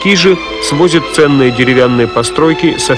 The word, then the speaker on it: Кижи: Ансамбль Кижского погоста на острове Кижи, иногда произносят Кижи, в Карелии, объявляется государственным историко-архитектурным заповедником.